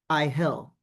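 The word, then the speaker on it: Iahel: And that that so your current guardian angel is IL. It's spelled I A H E L.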